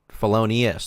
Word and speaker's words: Felonius: how you pronounced it it's not felon it's felonius there's an i felonius team quimbley Urban